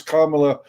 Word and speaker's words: Kamala: you could you could never say kamala it's kamala uh and you're culturally insensitive if you mispronounce that uh yeah it's i think it's